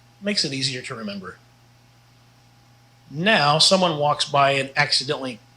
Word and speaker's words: en: means and it's pronounced n pretty much like the letter n but make sure you get a short e on there so n depend in